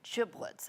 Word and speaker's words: giblets: said this dieye is called turkey giblets and it has a hard G sound but all through our